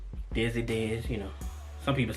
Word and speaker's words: Dezzy Dez: know, well, my nickname, if you can't pronounce it, it's Dezzy Dez, you know. Some people say Dezzy, I'll be like, that's close enough, but nah, it's Dezzy Dez.